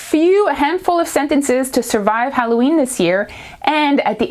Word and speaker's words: Halloween: but it sounds like Halloween so the H is silent we don't do the sound okay so it's okay